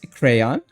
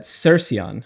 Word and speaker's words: Cercion: This is Crayon, the elf. That's not how you say that. Cercion is actually how you pronounce that.